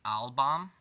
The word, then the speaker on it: Albam: This cipher is actually called the Albam, thus it's spelt Aleph, Lamed, Beit, Mem. So you got Al-Bam.